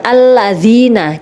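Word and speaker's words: الَّذِينَ: seperti itu selanjutnya alladziina alladziina itu adalah bacaan Idgham syafawi Kenapa karena ada lam tarif bertemu dengan huruf lam sebenarnya itu adalah kalimatnya ada lam sukun baru lam yang kedua Nah karena alamnya double maka dites di seperti ini maka hukum bacaannya adalah Idgham Syamsiah Kenapa karena dalam tari bertemu dengan huruf lam ya jadi Mas menjadi Bacanya adalah dengan cara dimasukkan alladziina cepat alladziina Ahad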